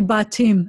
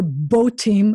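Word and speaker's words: בתים: this case it's not it's ba team we after a long vowel you have to break the syllable so it's really bot team and you may be saying two syllables there and you may be right but it shouldn't be that's a short it is never both team and that would be the short vowel version so i give up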